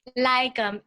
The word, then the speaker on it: lagom: Lagom, Lagom. Okay, I'm gonna have to. And if you just think about, one. the OM and the word lagom, it's easier to resonate.